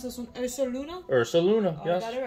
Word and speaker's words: Ursaluna: Well, how do you pronounce this one? Ursaluna? Ursaluna, yes.